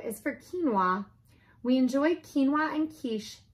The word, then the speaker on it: quinoa: psychic pterodactyl struggles with psoriasis q is for quinoa we enjoy quinoa and quiche by the key